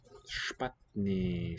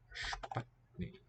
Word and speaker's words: špatný: Špatný strom. Yeah. Špatný. So an S with this V-shaped thing is a sh.